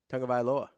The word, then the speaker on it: Tagovailoa: Well, how is it pronounced? Tagovailoa. Tagovailoa.